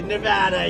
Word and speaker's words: Nevada: Nevada, you ain't got to go with thousands of proud, hard-working American patriots, and that's what you are.